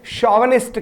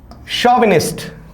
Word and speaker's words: chauvinist: आप देखिए, इसका स्पेलिंग पे जाइए और जो मैंने इसका उच्चारण किया है उस पे जाइए। ठीक है, स्पेलिंग में आपको क्या मिल रहा है? CHAUVINIST। ठीक है, लेकिन आप इसे पढ़ क्या रहे हैं? शॉविनिस्ट।